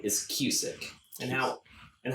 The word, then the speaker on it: Kusick: the last name is cusick and now and how i always tell people it is spelled and pronounced the same way as like music but with a k on each end perfect now if i'm